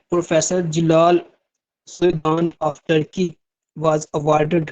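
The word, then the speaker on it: Celal: Professor अच्छा professor जलाल की spelling note कर लें। सी ई एल ए एल क्योंकि टर्की लैंग्वेज जो है उसमें जो जे है उसको सी लिखा जाता है हमारी इंग्लिश में तो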